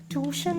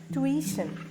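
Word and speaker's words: tuition: അടുത്തതാണ് ടി യു ഐടിഐഎൻ ട്യൂഷൻ അല്ല ട്വീഷൻ ട്വീഷൻ British പ്രൊനൗൺസിയേഷനില ട്വിഷൻ ട്വിഷൻ stress on the second syllable ട്വിഷൻ ഇതിന്റെ മലയാളം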